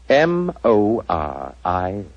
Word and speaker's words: Moriarty: I'm afraid I'll have to begin calling it the way it looks. M-O-R-I-A-R-T-Y. Moriarty. Moriarty.